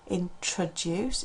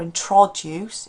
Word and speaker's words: introduce: Introduce, it's not introduce or introduce, it's introduce. Because again, the stress is on the first introduce.